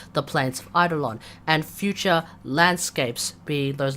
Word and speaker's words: Eidolon: Eidolon. The correct pronunciation. Jesus Christ. The correct pronunciation is Eidolon. So every time he says Eidolon, just remember Eidolon, as in Plains of Eidolon.